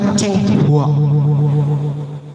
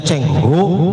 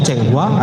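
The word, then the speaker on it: Cheng Ho: Nah, datangnya dengan perahu Laksamana Cenghua, bacanya Cengho karena makannya bolet jadi bebas saja ngomongnya Cenghua atau apa.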